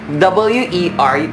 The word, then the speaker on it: wer: Ang who na German is wer. Who, W-E-R, pero yung pronunciation niya is V. Diba, sabi ko nila yung W nila, it is pronounced as V.